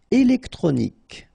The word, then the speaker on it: Électronique: Électronique. Okay, so as we saw previously, Q-U-E at the end, K.